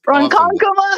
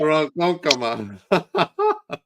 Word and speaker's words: Ronkonkoma: It's so bad for like pronunciation point 0. The way you say it's Ronkonkoma, Ronkonkoma. I don't know how to say it. Ronkonkoma.